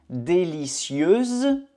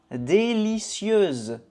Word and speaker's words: délicieuse: acheter acheter délicieux délicieo délicieuse délicie ok il faut faire attention à la prononciation masculin Délicieux délicieux féminin. Délicieuse. Délicieuse.